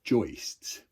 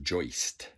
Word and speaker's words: joist: run across they're called joists and you know I just learned that that's pronounced joist like hoist I always thought it